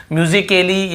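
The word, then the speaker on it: musically: देखिए आप म्यूजिकली तो यहां पे ए का उच्चारण नहीं हो रहा है और देखिए लास्ट में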